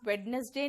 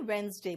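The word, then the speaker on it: Wednesday: ठीक है, देखिए वेंसडे का हो गया, वेडनेसडे नहीं वेंसडे बोलना।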